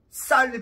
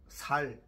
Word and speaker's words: 쌀: 안 되는 사람들이 있죠 쌀 발음이 안 돼 살 살 저 최전방에서 내가